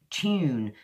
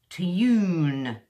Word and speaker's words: tune: way of pronouncing it as you know I speak modern British English now the way I would say it is tune choo-choo tune tune or studio justa studio and YouTube Church is it sound YouTube and the other way the other people say they kind of really pronounce it they say to Yoon or studio or YouTube